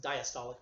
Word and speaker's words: diastolic: is the diastolic pressure diacid diastolic pressure is how we usually pronounce it from diastole dia sto LIC diastolic pressure is the